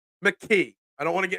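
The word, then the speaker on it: Tanner McKee: give there there were people calling for Tanner McGee mcke I don't want to get in trouble I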